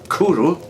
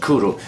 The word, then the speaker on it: Cwrw: the bottle here it tells us that Cwrw, pronounced Cwrw, now I know how to pronounce it, I'm Welsh, but for any viewers here who are not Welsh, first of all my commiserations, but Cwrw is pronounced Cwrw.